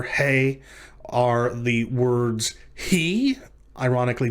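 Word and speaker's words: הא: Hey. It is pronounced like the letter H in hay or house, or the W and H in who, and so forth.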